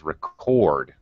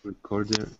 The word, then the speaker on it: record: on the second syllable for example the verb will be record the noun on the other hand is record uh okay so irving try reading this sentence the bank recorded a new record yesterday